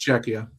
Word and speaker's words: Czechia: I can't pronounce it. It's Czechia.